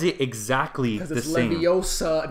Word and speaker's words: Leviosa: But it's Leviosa.